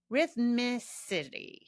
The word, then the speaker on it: rhythmicity: Rhythmicity. Yeah, I'm saying it right. Oof. That's a tricky word. There's a lot of R's and M's in there.